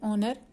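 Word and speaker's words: honour: अब एक्सेप्शंस कुछ हैं, लाइक यहाँ पर एच से शुरू होता है ऑनर, लेकिन इसका साउंड है ओ से और एच साइलेंट है, तो इसके लिए लिखेंगे एन ऑनर।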